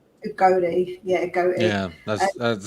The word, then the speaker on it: Udogie: Someone said how you pronounce it. Udogie. Udogie, yeah, Udogie.